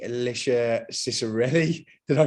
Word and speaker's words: Cicirelli: excited to have on the show e alicia cicerelli did i pronounce that correctly you did pronounce it correctly